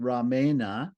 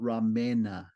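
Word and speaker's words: रामण: why is it that we pronounce it Ramana without without with a cerebraland and not ramena with a palt with a dental end and the reason is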